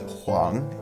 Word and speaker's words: 黃: common chinese surnames number seven this character is pronounced huang and it literally means the color yellow it's